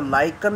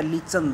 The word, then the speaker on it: lichen: और ये है ना कि जो LICHEN, इसको लाइकन या लीचन दोनों उच्चारण सही होता है, या तो लाइकन या लीचन।